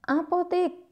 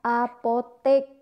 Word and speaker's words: apotek: Nah, apotik. Nah, mau kemana? Mau ke apotik. Kita biasa sering mengucapkan apotik. Ternyata itu juga tidak baku. Yang baku adalah apotek. Ya, berasal dari kata apoteker.